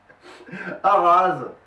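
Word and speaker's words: Araz: relégable ah c'est ça AR ras je te laisse deviner de qui euh moi je pense que c'est coco et ben oui a R a Z et parfaitement comme ça se prononce avec un comme ça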